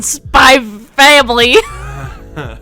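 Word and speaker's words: Spy x Family: something about you know the x it doesn't get pronounced in spy family i'm just kidding that's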